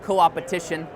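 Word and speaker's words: coopetition: the entire network so I came up with this term called co-op petition and I put the you know the pronunciation guide there in case you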